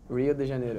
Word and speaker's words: Rio de Janeiro: generator really yeah how do you say it rio de janeiro Rio de Janeiro in Brazil and there is